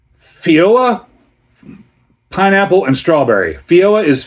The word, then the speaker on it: feijoa: And so this beer here is a sour ale with I don't know if I'm going to pronounce this correctly. Fioa pineapple and strawberry.